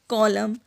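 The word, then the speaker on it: column: एन तब silent होता है जब कभी भी एन पेयर होता है एम और एन के साथ, जैसे कि ऑटम, कॉलम, डैम, हिम।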